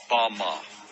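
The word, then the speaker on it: במה: which Satan fell is Strong's Hebrew word 116 pronounced Bama Bama is most commonly used to refer to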